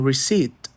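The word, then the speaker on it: receipt: Hoje você é obrigado a escrever aquele P em rece, mas se você pronunciá-lo, você está cometendo um erro.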